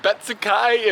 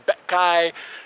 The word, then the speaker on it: Betsukai: All right, I'm in Connection City, and it's got like 900 pronunciations for the city. It's like Betsukai, and the guy was like, there's a lot of regional pronunciations depending on where you live. Like sometimes it's Betkai, and he had like Betsuka, and like all sorts of weird pronunciations.